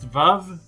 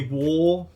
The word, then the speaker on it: Vav: it's a v it it's supposed to be pronounced VAV but I always say War I'm sorry so it